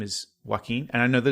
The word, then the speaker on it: Joaquin: a very long time I called him JA Qin and I still do that in my head and I have to catch myself and I I almost did it just then and when I even literally reading articles about it I'm like Jacqueline Phoenix that's not his name it's Joaquin all right like well